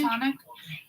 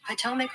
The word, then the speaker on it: Potomac: Platonic. It's not said like that, though, so I didn't even do it right. Platonic. How to say Potomac River? Potomac River.